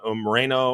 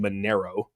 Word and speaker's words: Monero: So, you know, obviously you have Zcash, you got Morano Mareno or um uh I was I said Mareno. Um that is not I don't think that's exactly how you say it. It's called Monero. Monero.